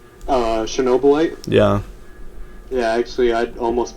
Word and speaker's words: Chernobylite: that one um i kinda wanna get uh cheryl blight if i'm pronouncing that right uh chernobylite yeah yeah actually i'd almost picked that up